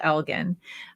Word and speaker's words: Elgin: and that's a beautiful it's algae and gin like the drink okay so it's different than how we would pronounce it in canada it's called elgin um no gin no chin no jen uh you know